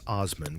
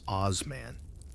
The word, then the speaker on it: Osman: That's Osman with a soft S, which you will inevitably mispronounce as Osman, like a medieval rock star.